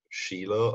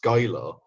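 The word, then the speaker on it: Schuyler: Sheila commented saying that it's pronounced Skylar. Now let me just explain something to you, my friend. That is a German AF name, and SCH is so pronounced sh.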